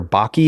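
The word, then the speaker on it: Bakke: that what's it called Baker Baki is that how do you say that Baki I believe yeah okay um explain what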